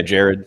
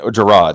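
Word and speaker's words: Jirard: you know the completionist leo be heard yeah Jared yeah Jerrod Scouten let me get these let me get the pronunciations correct not want to be associated with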